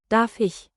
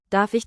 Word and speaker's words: Darf ich: Say Darf. with a clear F, then the soft German Ich. sound, like air slipping over your tongue.